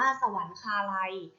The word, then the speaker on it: สวรรคาลัย: ไป ค่ะ คำ ว่า สวรรคาลัย สวรรคาลัย อ่าน ว่า สวรรคาลัย สวรรคาลัย ประกอบ ไป ด้วย สอ เสือ วอ แหวน